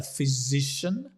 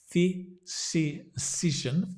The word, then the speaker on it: physician: a little bit clearer physician wow complicated word sounds like fizzy like a fizzy drink fizzy physician f z so it's a voiced z z that is almost disappears